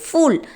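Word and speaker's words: फूल: Actually pool கிடையாது, ஃபூல், ஃபூல் அப்படின்னு pronounce பண்ணணும், ஃபூல்.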